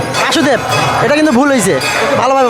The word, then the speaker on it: বসুদেব: আর বাবার নাম হচ্ছে বাসুদেব বাসুদেব এটা কিন্তু ভুল হইছে ভালোভাবে বলেন না বাসুদেব বাসুদেব এটা মানে কাছাকাছি গেছে কিন্তু উচ্চারণটা ভুল হইছে বাসুদেব হবে না বসুদেব হবে বসুদেব বাসুদেব